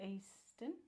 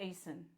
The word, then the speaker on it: Eason: Lynette East. There's no T. Oh, Lynette E.